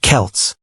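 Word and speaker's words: Celts: The people who lived there were called the Selts, pronounced Kelts.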